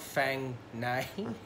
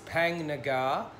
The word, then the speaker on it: Phang Nga: I was editing I said the park name wrong it's not Fang name it's pang Nagar elephant sanctuary ethical elephant